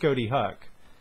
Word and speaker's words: Ghoti Hook: So this band is called Ghoti Hook. It was always pronounced Ghoti Hook, but if you think about it, it's Fish Hook.